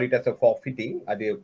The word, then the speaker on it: forfeiting: for fitting you may call it as a forfeiting the pronunciation is for fitting is the correct correct pronunciation for fitting uh